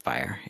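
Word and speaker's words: FHIR: even Instagram jokes and that is fire pronounced uh pronounced fire f-h-i-r what the heck does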